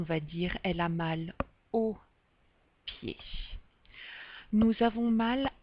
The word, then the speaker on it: aux: Et ici, on va dire O avec un X, mais la prononciation est identique, c'est le O.